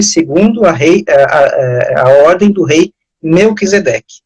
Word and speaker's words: Melquisedeque: Pronuncia aí, padre, que eu não sei pronunciar. Melquisedeque.